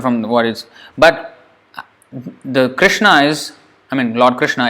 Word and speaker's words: Krishna: clearly for example rah they can't say easily like Krishna Krishna they say Krishna it's not Krishna it's Krishna or it's not even Krishna it's Krishna as we have learnt so they can't